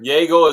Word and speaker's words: Yeagle: Yeagle is Yeagle. Yeah, spelled like beagle except with a Y.